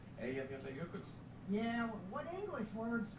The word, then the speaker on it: Eyjafjallajökull: It's pronounced similar to, yo, I forgot the La Yogurt. Like the La Yogurt part. The La Yogurt's kind of close.